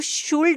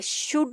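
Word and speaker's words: should: लिखा हुआ होता है, तब भी हम इसको शुल्ड नहीं पढ़ेंगे। यहाँ पे भी इस सूरत में यू एल डी में भी एल साइलेंट हो जाता है, शुड हो जाएगा ये वर्ड।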